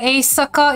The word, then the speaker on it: éjszaka: I swear, éjszaka is pretty much pronounced it's a cat, in my opinion. It's a ka.